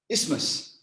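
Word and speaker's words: isthmus: h m u s ismus is ISM ISM wow I did not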